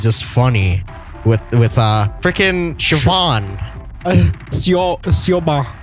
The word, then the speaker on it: Siobhan: Siobhan. Yeah, she's like, that's how you... I didn't know that's how you pronounced it. I thought it was like... Siobhan or something like that.